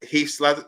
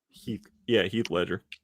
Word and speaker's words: Heath Ledger: Heath Ledger. I'm saying his name wrong. Heath Ledger. Heath Ledger.